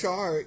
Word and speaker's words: Char: Yeah, this is an alternate storyline because the whole Amuro and Char, I think it's Char, even though it's CH. Yeah, it sounds like an SH, but it is spelled CH. Yeah.